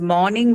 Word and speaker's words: morning: which is m-o-r-n-i-n-g although they uh sound very similar they're actually not very similar even in the case of pronunciation they are both different sounds both different um and they they are different because of the distinction of just one vowel sound there okay so morn